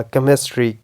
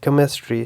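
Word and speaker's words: chemistry: तीनों में for example first में सीच का जो साउंड है क जैसा निकलेगा केमिस्ट्री क केमिस्ट्री सेकंड में जो है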